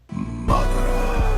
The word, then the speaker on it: Madara: It is pronounced Madara.